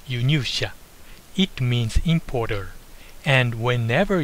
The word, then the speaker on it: 輸入者: This word is pronounced 輸入者.